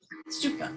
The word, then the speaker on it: Stupa: In the temples, they're also known as, I'm not sure if I'm going to pronounce this right, but Stupa. Stupa.